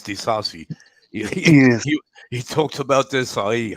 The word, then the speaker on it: Disasi: He said it's like when you say Disai, it's Disasi.